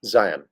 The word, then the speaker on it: Zion: The emphasis is really on the I, not the on. So it's Zion.